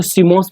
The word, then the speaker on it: CMOS: ध्यान रख लेना, COMS, इसको जो शॉर्ट फॉर्म इसका प्रोनाउंस अगर हम करें तो CMOS बोला जाता है।